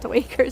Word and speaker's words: duiker: Jeff pronounces it Duiker, so I do too.